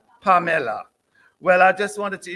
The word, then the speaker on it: Pamela: Oh, we'd say Pamela, but in Jamaica, we would say Pamela. Well, I just wanted to introduce Pamela Rowena, and Joanne.